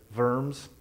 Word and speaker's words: Worms: We went to verms, that's how they say it. It's actually looks like worms to us where Martin Luther was condemned in the Catholic church.